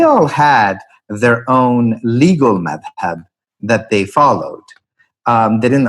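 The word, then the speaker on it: madhhab: So, that term madhab in Arabic, or mazhab in Persian, Turkish, Urdu pronunciation.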